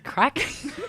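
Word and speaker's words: craic: i don't know what what the crack it's spelt c-r-a-i-c and it means it just means like good one good we'll have a laugh yeah well can we not pronounce that as crack that's what it is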